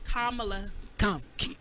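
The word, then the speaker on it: Kamala: uh we got to say her name right kamla kamla okay you know I'm country so every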